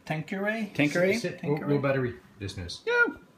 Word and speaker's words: Tanqueray: yes I said this that and I can't pronounce this tank query thing right thank you Ray Tanqueray sit real buttery business yeah take hurry yeah